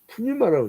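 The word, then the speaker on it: πνεῦμα: 그리고 이제 헬라어로는 푸뉴마라고 하죠. 푸뉴마. 그러니까 한글로는 푸뉴마. 여러분들 하도 많이 들어갖고 이제 알 거예요. 푸뉴마라는 말은 이제 이 푸뉴마인데, 이제 이건 좀 길게 장음으로 발음이죠.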